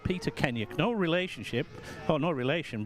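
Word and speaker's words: Kennaugh: half as good as Hudson Kenner, as is the anglicised version of the name is, Kenyuk is the correct pronunciation. It is of Manx heritage. That is where the name comes from.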